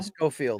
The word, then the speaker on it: Schofield: Of course, that was supposed to be, how do you pronounce the kid's last name? Schofield? Schofield? Yeah, Schofield.